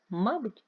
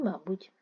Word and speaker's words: мабуть: також комбайнер і комбайнер мабуть і мабуть в українській мові існують Слова які мають два наголоси подвійний наголос це означає що слово